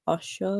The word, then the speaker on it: Osho: It was actually the player you mentioned last week, Gabriel Osho, is that how you say it? Him? Yeah, Osho.